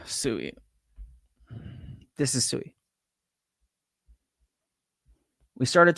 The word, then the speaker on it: Sui: man I can't get behind that all right pronounce suie again here suie let me show you H suie this is suie we started talking about sui